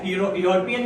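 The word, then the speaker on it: European: ही is dash यूरोपियन union official. सो यहां पे हम कहेंगे ही इज़ एन एन आएगा कि आएगा? आएगा। यूरोपियन में ये की साउंड आ रही है।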